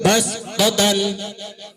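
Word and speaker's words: بصطة: 2, basdatan, tulisannya sod harus dibaca sin.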